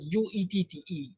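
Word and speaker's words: Uette: It is spelled U-E-T-T-E.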